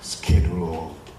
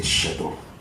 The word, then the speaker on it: schedule: to do with our schedule Americans say schedule we say shadow all the timing but